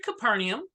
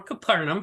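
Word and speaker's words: Capernaum: and when Jesus entered capernium or capernum however you want to pronounce it a centurion came to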